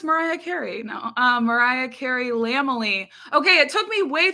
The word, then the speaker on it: Lamely: No, Mariah Carey Lamely. Okay, it took me way too long to realize that Lamely is not pronounced Lambily, and it is like Mariah Carey's family.